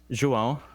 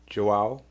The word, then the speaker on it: João: João, Joao, João, it's Joao, nasal.